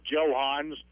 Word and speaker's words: Johans: I was listening to see how they pronounce it. It's Johans.